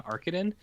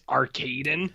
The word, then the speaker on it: Arkadin: the other thing is i'm glad that you're saying uh arkadin uh because i or arkansas arcadin i don't like how they pronounce it and i even wrote it down because i was like i was like that doesn't seem right miss arcadine there's then he says